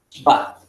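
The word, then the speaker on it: שווא: Se llama Shba, así se pronuncia.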